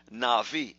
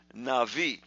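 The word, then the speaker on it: נביא: for true prophecy that's Navi it's pronounced Navi and avi but it's actually written Nabi it's written in ABI but in the Hebrew the B is pronounced as a V so that word Navi is very important then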